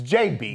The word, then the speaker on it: JB: It's JB. JB. Not JD. Like the whiskey brand, not JD, like the bourbon brand.